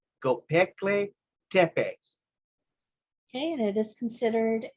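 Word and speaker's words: Göbekli Tepe: Now, this next one right here, I can actually tell you the correct pronunciation. It's Gobekli Tepe.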